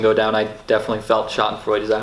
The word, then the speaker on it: Schadenfreude: watching the election go down, I definitely felt Schadenfreude. Is that how you say it? Yeah. Schadenfreude? Okay, Schadenfreude.